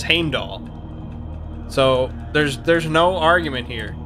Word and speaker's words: Heimdall: I mean, I know I'm gonna get crap for pronouncing it Heimdall, but I actually found there is a video by Jackson Crawford, and he does actually say the name. He says Heimdall.